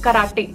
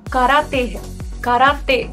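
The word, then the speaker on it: 空手: किए टाइप है जिसे हम कहते हैं कराटे वह कराटे नहीं है वह कराते-कराते खराब दूर होता है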